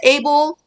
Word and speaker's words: Abel: 자, 이름을 영어식으로 읽어줘야죠. 아벨, AB의 에이볼 이라고 읽고 스가랴를 제코라이아. 그 다음에 바라기아를 베라카야. So from the blood of righteous Abel to the blood of Jerokiah, son of Berechiah.